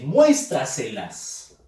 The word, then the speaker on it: muéstraselas: En este caso dice muéstraselas. Fuerza de voz en mues.